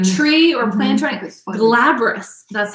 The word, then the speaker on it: glabrous: any leaf any leaf like tree or plant glabrous that's how it's pronounced glabrice okay well we all learned something